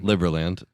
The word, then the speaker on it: Liberland: Liberland.